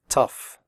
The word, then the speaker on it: tough: pronounce the word correctly the oh ugh in tough is pronounced off like in stuff tough recipe if you have